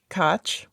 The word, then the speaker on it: Koch: The CBS program, penned by Casablanca screenwriter Howard Koch, or Cook. I don't know because I apparently mispronounced it last week. Yeah, apparently the astronaut's name is Cook, even though it's spelled Koch.